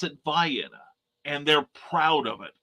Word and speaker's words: Vienna: after an ultrabox song but anyway um they pronounce it vianna and they're proud of it i'm was pronouncing